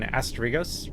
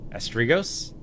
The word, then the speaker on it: Asterigos: thanks for watching this has been asteros or I guess I'm pronouncing that wrong haven't I Asos that's how manura seem to pronounce it I'm peace here peace